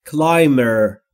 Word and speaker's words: climb: Social climber. Social climber. Climb یعنی بالا رفتن. همونطور که میبینید بیش خونده نمیشه.